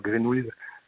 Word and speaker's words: Greenweez: Alors GreenWiz, ça s'écrit GRNW2Z pour les auditeurs qui chercheraient à le taper dans le navigateur.